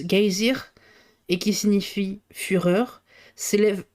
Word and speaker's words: geysir: Le geyser, mot que les Islandais prononcent geysir et qui signifie fureur, s'élève majestueusement à son extrémité.